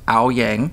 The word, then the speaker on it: Owyang: stayed here I saw your last name now pronounced ayang right good was the descendant